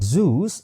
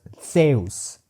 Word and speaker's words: Zeus: And the Greek Zeus is not palatal or alveolar Z. It is a dental Z. So rather than being Zeus, it was Theus. Theus.